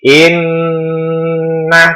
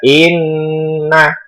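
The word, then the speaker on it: إِنَّ: Itu cara membacanya berdengung agak lama. Jadi inna tidak boleh, inna tidak boleh. Jadi bacaannya adalah inna.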